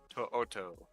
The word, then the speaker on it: To'oto: Henry To'oto. I love that name. It's like impossible to say. The Oto, last O is its own syllable.